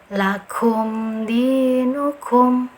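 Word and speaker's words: لَكُمْ دِينُكُمْ: Dibacanya dengan apa? Dengan jelas, tidak ada dengungan sama sekali ya, seperti itu ya. Cara yang betul membacanya seperti ini ya, insyaallah. Lakum dinukum, lakum dinukum. Jelas saja, jangan membaca dengan seperti ini ya, ini yang keliru. Lakum dinukum, lakum ya, yang salah karena ada dengungannya, ada guna di sini.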